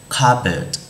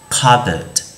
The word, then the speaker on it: cupboard: Nhưng chúng ta sẽ không đọc cái chữ p đấy lên mà sẽ chỉ là chữ k, a, b, e, d, cupboard, cupboard.